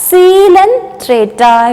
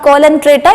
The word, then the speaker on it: Coelenterata: Okay, so this hydra is also an aquatic organism and it comes under a group called as Coelenterata. It is not Coelenterata, you have to pronounce it as Coelenterata.